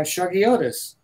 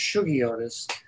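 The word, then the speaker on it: Shuggie Otis: out uh by this this Blues Phenom uh shaggiotis actually it's pronounced sugiotis I I finally found out that Sugi is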